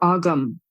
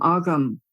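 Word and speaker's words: Ogham: found out was that those are AUM o g h a m AUM it's the language called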